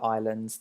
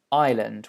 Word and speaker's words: island: So there is a slight difference in pronunciation between Ireland, so the country, Ireland, or the Republic of Ireland, and the pronunciation of island, which means a landmass surrounded entirely by water. Okay? So they are slightly different.